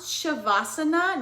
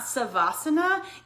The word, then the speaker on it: shavasana: And you get into shavasana, which by the way, it is pronounced shavasana, not savasana.